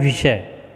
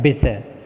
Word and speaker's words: विषय: तो बोलते हैं विषय, जबकि होता है विषय। ठीक है, और यहाँ पे यह अशुद्ध बोला गया है विषय।